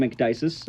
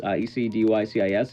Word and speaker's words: Ecdycis: have enjoyed the run so far, I am Ecdycis, Ecdycis. It's hard to pronounce, but that is my name.